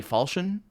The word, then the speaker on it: falchion: work file shown that's I say falchion and I'm pretty sure that's the correct pronunciation even though I have